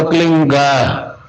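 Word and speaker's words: क्लीं: ही मात्रा और बिंदी, उसका उच्चारण होगा क्लीन गा। गा की ध्वनि निकलेगी पीछे।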